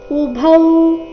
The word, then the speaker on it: ಉಭೌ: ಯ ಮೇಲೆ ಆಘಾತ ಮನ್ಯತೆಹತಂ ಉಭೌ ಇಲ್ಲಿ ಭೌ ಮಹಾಪ್ರಾಣ ದೀರ್ಘ ಉಭೌತೌಜಾನಿತೋ ನಾಯಂ ಹಂತಿನ ಹಹನ್ಯತೆ